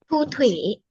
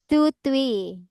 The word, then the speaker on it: Thu Thủy: Thu Thủy. Tutwi.